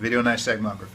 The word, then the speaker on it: Videonystagmography: So the Videonystagmography, is that how you say it? Correct. Videonystagmography.